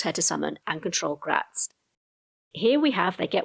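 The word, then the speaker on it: Graz'zt: of another powerful demon, Prince Gratz, or Gratit depend on how you pronounce that. I've heard it done both ways, but I'm going to go with Gratz.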